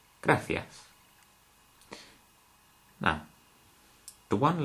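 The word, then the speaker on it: gracias: gas now I've already told you how to pronounce this letter and these letters A and E graas now the one letter that could catch you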